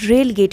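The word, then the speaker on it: relegate: रेलीगेट का मतलब होता है ना कि रेलगेट इसको कहेंगे, रेलगेट, इसका प्रोनाउंसिएशन होगा रेलगेट।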